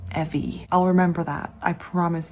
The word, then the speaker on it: Evi: Evie cuz I'm always usually wrong with my pronunciation. I'm sorry. But regardless of that, look at this. I don't like that. It's Evie. Evie.